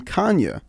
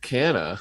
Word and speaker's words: Canha: They randomly started pronouncing Mark Canha's last name Kanya, and I thought that was a correct pronunciation that he corrected, but then his wife, Marcy, tweeted that it wasn't Kanya. It was Canha, like we had been saying it.